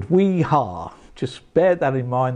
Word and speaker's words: Wiha: Wiha, pronounced as the Yanks would. Wiha.